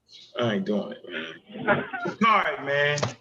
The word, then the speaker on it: Sha'Carri: Sha'Carri, man. Sha'Carri.